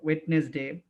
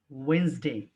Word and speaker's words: Wednesday: একদম দেখে মনে হচ্ছে ওয়েড, তারপর হচ্ছে নেস, তারপর হচ্ছে day. That's why most of you pronounce the word ওয়েডনেসডে or something like that. The exact pronunciation of this word is Wednesday, Wednesday।